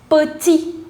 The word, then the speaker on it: petit: So this T, last T would be silent. So you say petit.